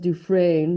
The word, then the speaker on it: Dufresne: In the Shawshank Redemption, this is pronounced Dufresne, by the way. Andy Dufresne is convicted of murdering his wife and her lover despite his innocence.